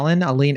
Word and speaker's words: Allynne: Aline? Stephanie Aline. Aline. Yeah, it's spelled Allynne.